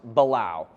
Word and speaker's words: balau: today uh for starters balao is spelled b a l Au U and pronounced balao um there are a